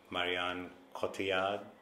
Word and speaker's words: Marion Cotillard: to watch I love this French actress currently marion cotillard that's how you say it she's just amazing